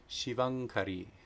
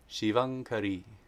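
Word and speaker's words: Śivaṅkarī: it shows a couple names here name 408 shivangkari shivang kari shivangkari she who brings auspiciousness is the very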